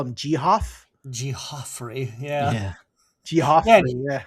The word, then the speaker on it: Geof: Geoffrey, yeah. Yeah. Yeah, Geoffrey, yeah. and he comments like, "It's Jeffrey."